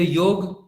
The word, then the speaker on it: योग: क्योंकि योग पहले यूरोप गया, इंग्लिश में उसको YOGA लिखा गया, फिर उसको योगा उच्चारण किया गया, फिर योग पश्चिम से फिर भारत आया और हम लोग ने उसको योगा कहना चालू कर दिया।